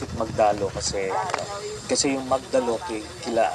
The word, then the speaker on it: Magdalo: And by the way we pronounce it magdalo kasi kasi yung magdalo kila Aguinaldo yun eh.